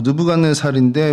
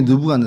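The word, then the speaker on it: 느부갓네살: 그래서 먼저 좀이 보면 이곳에 좀 대표적인 유물들이 어 공중 정원이라고 느브간네살인데 뭐 영식 발음으로 네부 카드 네자르라는 그 왕의 공중 정원이 있고요. 우리가 잘 알고 있는 성경에 느브갓네 사람입니다.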